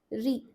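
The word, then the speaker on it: ऋ: Re I know the E sound that you see in the pronunciation of this letter. You'd be wondering why aren't we writing it with the letter E? Isn't it? You must be thinking if you're saying short E sound in this particular vowel re the E sounds like a short E at this uh point, isn't it? re.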